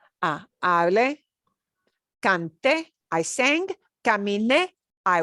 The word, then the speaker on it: hablé: That means we punch that e sound at the end. So, por ejemplo, hablar becomes hablé.